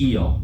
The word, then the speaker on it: il: in uh French it's eel if you say they in French it's eel yeah like what yeah